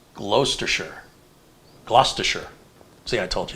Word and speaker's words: Gloucestershire: Brian says Gloucestershire is pronounced Gloucestershire.